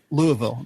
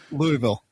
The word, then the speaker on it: Louisville: Learn how to write phonetically. It would be L-U, Lou, E-H, and Ville would be V-I-L.